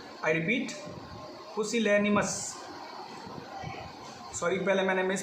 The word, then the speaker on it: pusillanimous: माउजी, या एक सिनोनिम और हो सकता है पुसिलेनियस। I repeat, पुसिलेनिमस। सॉरी, पहले मैंने मिस प्रोनाउंस कर दिया था, मैं फिर से रिपीट कर रहा हूँ, पुसिलेनिमस।